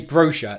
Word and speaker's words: brochure: 1, the stress can catch you out. 2, the BR consonant combination at the beginning of the word.